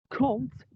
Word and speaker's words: compte: Yeah, do not think about how it's spelled because it will scare you all because it's got an M and a P and a T, just say compte, like C-O-N-T, imagine it's that.